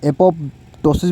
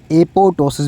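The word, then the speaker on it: apoptosis: इसको आप एपोप्टोसिस भी बोल सकते हैं और इसको आप एपोटोसिस भी बोल सकते हैं, ठीक है। दिस पी इज़ साइलेंट, ठीक है, this P is silent, एपोटोसिस है ये, ठीक है।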